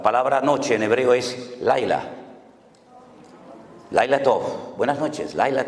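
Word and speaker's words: לילה: Ya sé que les causa risa, pero es que estoy pronunciando la palabra sol. Shimshon, sol. Y Dalila, la palabra noche en hebreo es Laila.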